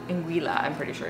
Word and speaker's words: Anguilla: I don't say this correctly, I think it's Anguilla. Anguilla, I'm pretty sure it's the correct pronunciation, but you guys can let us know if we're saying that improperly.